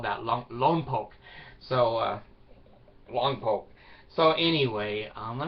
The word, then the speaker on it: Lompoc: It's pronounced Tooele. It reminds me, in California we had Lompock, and people would say it's Longpock. No, in California we call that Lompock.